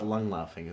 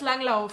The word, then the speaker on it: Langlauf: Well, we call it langlaufing. That's kind of langlaufing. Langlaufing? Yeah, we make it. No, that's just dumb. It's in German it's Langlauf and Langlaufen, not Langlaufing.